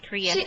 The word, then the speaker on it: Kriesha: Kriesha, that's the way we pronounce it is Kriesha.